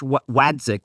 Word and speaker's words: Waitzkin: And it is Josh Waitzkin, I think is how you pronounce his name.